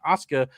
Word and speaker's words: Asuka: It's so Yeah, I have a hard time breathing past the U. So I always say me every time you say her name. I'm like, where's the I? I I I have to I have to act like there's no U there.